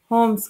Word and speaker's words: Holmes: अगला मत है होम्स का। होम्स, इनकी स्पेलिंग होती है HOLMES, होम्स के मत में,